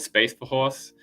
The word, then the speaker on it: Space for Horse: It's called Space for Horse. The F and the H are both pronounced. Neither of them are silent.